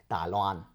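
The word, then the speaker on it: 台灣: And I'm probably not going to be pronouncing it right. So go easy on me. Dai Loan.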